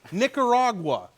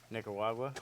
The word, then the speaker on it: Nicaragua: Nick. Nick? Ra. Ra. Gua. Gua. Nicaragua.